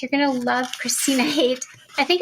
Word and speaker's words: Haight: Oh my goodness, you're going to love Kristina Haight. I think it's Haight, right, Kristina? No, you had it the first time, Haight. I said Haight? Yep. Okay, I was scared to say hate, but it looked like hate to me.